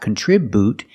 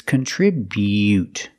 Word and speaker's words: contribute: this is together contribute remember that bu is not boo it's not contribute it's contribute make the e u sound contribute contribute with a